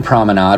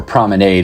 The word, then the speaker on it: Promenade: The Union Promenade, or Promenade as my wife tells me I should be pronouncing it, is a 62-acre mixed-use development located in Union, Kentucky alongside State Highway US 42.